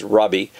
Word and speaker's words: Rabbi: or Mr teacher father Rabbi there in verse eight like I said pronounced Robbie is the term used